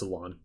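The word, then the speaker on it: Alain: they aired the Mega Evolution specials that starred Alon and yes that's how you pronounce his name it's Alon now I'm not going to explain any of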